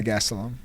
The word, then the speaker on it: Gastelum: Yeah, Gastelum.